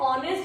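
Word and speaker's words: honest: अब देखो एच तो यहाँ पर भी है, लेकिन यहाँ पर वॉवल से पहले नहीं आया, इसलिए साइलेंट नहीं हुआ, तो वो कैसा है? हार्ड वर्किंग, एच से डिनोट होना है। जबकि ऑनेस्ट हो गया, जैसे ऑनर हो गया, तो ऐसे में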